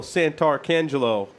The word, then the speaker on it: Santarcangelo: Our fellow hosts via Skype, Not Kevin, Joff Thayer, and Santarcangelo.